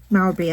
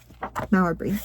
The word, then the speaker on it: Mowbray: inheriting lands, well, I'll use an example of Mowbray, I believe that's how it's pronounced.